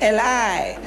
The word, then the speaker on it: Eli: i'm you see now you pronouncing like a european i'm pronouncing like a jew because because i'm nearer